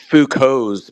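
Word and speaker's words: Foucault: oh golum Gollum yeah I think technically it's fuko's pendulum but everybody knows what you're talking about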